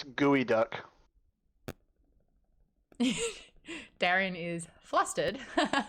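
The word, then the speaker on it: geoduck: duck Daren is flustered it's pronounced gooey duck and it's a clam but meal that people eat and it's gross but if it's gooey duck it should be g o e not g EO doesn't make any make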